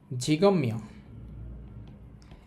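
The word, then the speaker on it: 직업명: Title লেখা আছে লেখা আছে জিগম জিগম মিয়ম ঝিগময় এই ঝিগ মানে হচ্ছে পেশা জেকব মানে হচ্ছে পেশা।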